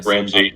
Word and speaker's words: Ramsey: How do I pronounce this guy? Ramsey.